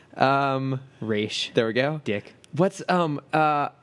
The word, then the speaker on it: Ra's: brought in Ra's. Yeah. You said it wrong. Raish.